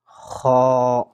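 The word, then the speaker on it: خ: So Khaa is pronounced from the upper part.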